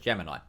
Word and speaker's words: Gemini: Apparently, that's not how you pronounce it. Apparently, it is just Gemini.